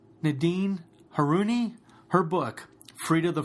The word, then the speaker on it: Haruni: the Prague enjoy this episode how do you pronounce your last name her Unni I've been practicing that all day and making